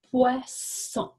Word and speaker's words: poisson: Et si nous voulons que ça fasse le son S, on doit mettre deux S. Alors, poisson.